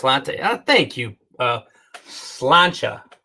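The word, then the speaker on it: sláinte: uh thank you uh slancha i think is how that's pronounced slancha thank you patrick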